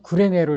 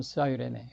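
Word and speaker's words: Cyrene: 어디 요거를 어떻게 있냐면 사이레네로 이렇게 있습니다. 사이레네 우리는 구레네로 이렇게 이제 C를 K로 해 가지고 구레네인데 실제로는 사이먼프 from롬 사이레네 이렇게 이런 식으로요. 그래서 이제 저도 미국에 가서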